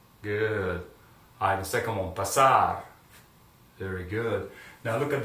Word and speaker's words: pasar: Now, as you can see, all those verbs end with the consonant R, so the accentuation is going to be on the last syllable.